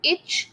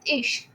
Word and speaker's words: ich: Okay, now you will not pronounce it ich, no, it is ish with the sh sound.